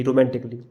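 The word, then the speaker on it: romantically: का उच्चारण नहीं करते हैं, जैसे म्यूजिकली, physically, रोमांटिकली। B silent.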